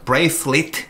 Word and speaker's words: bracelet: 얘는 bracelet 렛이 아니고 굳이 쓰자면 lit 같은 소리가 나죠. bracelet 이런 식으로요.